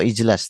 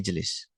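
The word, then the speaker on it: اجلس: Yajlisu ijlis bukan ujl ya atau ijlas tapi ijlis.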